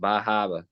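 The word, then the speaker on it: Bar Harbor: I can already hear how that place is pronounced, Bahaba. Bahaba, Maine. Bahaba, Maine.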